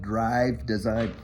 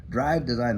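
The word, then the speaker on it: Dryve Design: a branding company up there in Canada called Drive Design. Drive Design, that was a June bug. Anyway, it's spelled D-R-Y-V-E Design up in Canada.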